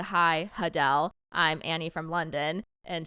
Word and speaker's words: Adele: In shorter news, apparently we've all been We've all been pronouncing Adele's name wrong. It's Adele.